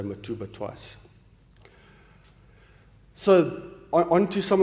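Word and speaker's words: Mtubatuba: pumps uh in in mat matba tuba the locals say matuba twice so on to some of the results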